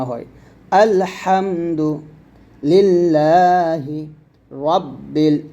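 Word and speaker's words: لِلَّهِ: লিল লাম একটান হবে লিল্লাহ হাজেরিহ লিল্লাহি আল্লাহ শব্দ লামের ডানে জের আসলে আল্লাহ শব্দ লাম পাতল হয় তাহলে তাহলে একসাথে বলবো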